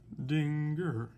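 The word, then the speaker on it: Schrödinger: So another researcher comes along, and his name is Schrodinger, Erwin Schrodinger, S-C-H-R-O, with an umlaut over the O, so we pronounce it Schrodinger.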